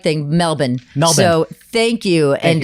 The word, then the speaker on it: Melbourne: yes, and you say Melbourne because that's the right way to say it. because even I though, went there and we called it Melbourne, Yes. and everyone's like, "No, it's Melbourne."